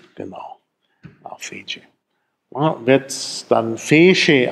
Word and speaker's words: fece: Wird dann Fece ausgesprochen, weil das, also eigentlich müsste es Tsch sein, aber in Mittelitalien schwächt sich das Tsch zwischen Vokalen ab und wird zu Sch.